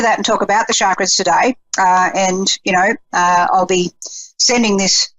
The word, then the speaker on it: chakra: I think I wanted to talk today about chakras, which, I may be mispronouncing. Some people get very upset and they go, it's chakra, Jacquelene, chakra. It's like charcoal, which, some people can